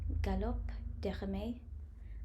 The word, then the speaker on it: Galop: um gallop by Herms in French this is pronounced as gallop um so yeah I'd